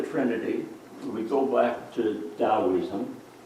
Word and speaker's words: Taoism: we go back to taoism you pronounce the tea is a deed don't you yes so stalinism taoism